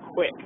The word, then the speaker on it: Qik: Uh it's supported on iPhone, Android, a couple different others, and it's called Quick. Uh it's spelled Q.